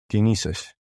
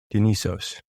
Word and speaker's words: Dionysus: And if you recall Mount Nysa, the god of Nysa, Mount Nysa, Dio Nysa, that's Dionysius, Dionysus. Dionysos. Depending on which culture you pronounce it from.